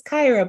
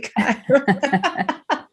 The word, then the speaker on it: Kyra: to interrupt her and say, actually, it's Kyra. But she like midway caught herself and she said, am I pronouncing your name correctly? And I was like, no, it's actually Kyra.